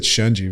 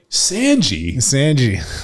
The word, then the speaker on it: Shunji: for John McPhee, and he was like, Sanji. And I stopped him, and I'm like, we have to reshoot this. Like, you need to say his name right.